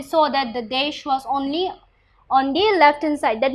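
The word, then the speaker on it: -one: used with ketone is o and e this is not one it will be pronounced as on now you see that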